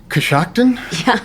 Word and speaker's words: Coshocton: get this pronunciation right, Coshocton, Ohio? Is that anywhere close? Yeah, that's in like eastern Ohio. And yeah, that is how you pronounce it. Most people say it really wrong.